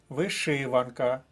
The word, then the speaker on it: вишиванка: слово з першого блоку вишиванка вишиванка другий склад друга колонка вишиванка наступний блок слів